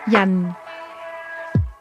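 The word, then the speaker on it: 人: Yan. Yan. This word is pronounced with a falling tone.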